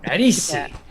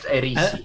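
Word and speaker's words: Aerisi: Erisi. Erisi Kalanov. I think Khaleesi, but Erisi.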